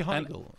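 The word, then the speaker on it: Heigl: Hegel higel hugle hagle it's got to be Hegel if it's EI it's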